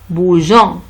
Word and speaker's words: bougeant: Alors, le E de E, le rôle de E pour faciliter la prononciation de je. Jean. Jean. C'est clair? En bougeant.